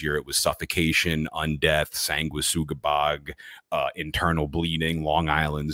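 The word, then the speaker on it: Sanguisugabogg: show you the logo is that correct that pronunciation yeah I I everybody debates me on it but I'm almost positive that it's sangua sugabag they say it's sangui I don't understand you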